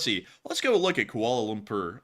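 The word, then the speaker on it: Kuala Lumpur: let's go look at koal lumur uh or Lumpur which I believe is how this is pronounced and let's take a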